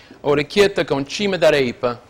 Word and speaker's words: orecchiette con cime di rapa: Another classic recipe is orecchiette con cime di rapa, like broccoli rabe and sausage. And the pronunciation of that, you know, of this, my paisan, is orecchiette con cime d'arepa.